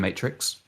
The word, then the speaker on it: MTRX: I'm assuming that's how it's pronounced. It's MTRX. So I'm going to call him Matrix.